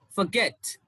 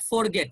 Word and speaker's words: forget: you have a shift now the stress is on the second syllable so you will say around forget forget it's not forget it's forget reply today